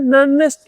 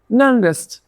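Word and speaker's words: Nernst: और अब हम आगे बढ़ते हैं दूसरे टॉपिक के ऊपर जिसका नाम है ननेस्ट equation N ई आर एन एस टी ननेस्ट। इसको मैं ननेस्ट बुलाता हूं क्योंकि ये ईजी प्रोनाउंस है।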